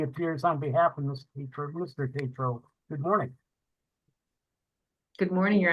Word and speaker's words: Tatro: It's pronounced Tatro with a long A.